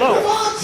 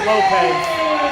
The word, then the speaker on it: Lopes: Well, this is Lopes. It's actually Portuguese. I know it sounds like Lopez, but it's actually Lopes.